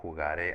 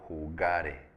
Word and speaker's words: jugare: Pero aquí no es yo jugaré, aquí es yo jugare.